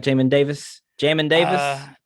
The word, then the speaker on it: Jamin: he has my name well it's spelt j-a-m-i-n i know people should start saying it's jamming john and davis not it can't be jaime because there's no y in there yeah man i'm working